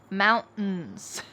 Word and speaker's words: mountains: Mountains. Well, often if there is a T plus in sound at the end of a word, we drop the T and kind of swallow that sound.